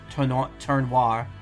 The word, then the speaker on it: Tournoir: I think the oi sounds needs to be pronounced like the oi in noir. Oh. Tournoir.